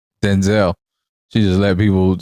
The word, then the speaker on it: Denzel: So she doing like Denzel. She just let people say her name wrong until you said she corrected it now.